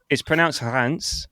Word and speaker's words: Reims: It's pronounced Hans, but it's spelt Reims, and Metz.